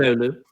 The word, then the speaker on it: Oulu: And I mean, what I know of particularly is the Oulu child sexual exploitation scandal. I think I'm pronouncing the name of the city correctly. I'm not. Yes. Yeah. I live in Oulu.